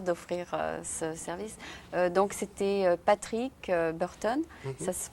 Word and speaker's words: Patrick Burton: de ta part d'offrir ce service donc c'était patrick burton ça se prononce comme ça dans ton dos rond en